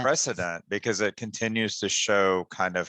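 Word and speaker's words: Shaud: represented by Brian C Rosen show and that's s-h-a-u-d and I've known people who pronounce it show uh Brian Walter Stoltz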